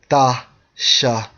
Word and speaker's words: Tishbite: Let's focus on the word Tishbite from the Strong's H8664, pronounced as Tashabaya.